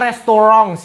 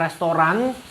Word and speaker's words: Restaurants: Ini bacanya restaurants ya, restaurants, bukan restoran.